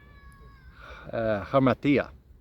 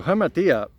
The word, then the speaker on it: hamartia: But the original word sin comes from the Greek word hamartia. I'm pretty sure that's how it's pronounced. I should know that, seeing as I live in Cyprus. So hamartia, the translation of that